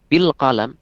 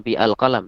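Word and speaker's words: بِالْقَلَمِ: Kalau kita tambah bi berarti bil qalam, bukan bi al-qalam tapi bil qalam. Hamzahnya gugur secara pengucapan.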